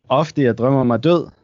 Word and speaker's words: Ofte jeg drømmer mig død: How do you pronounce the album name? Ofte jeg drømmer mig død.